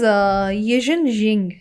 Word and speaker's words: Yijin Jing: What is Yijin Jing, and how does it help people unlock longevity and resilience, especially in healing?